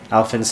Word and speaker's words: Alfyn: Alfyn rhymes with Ellen? Almost. It's close enough.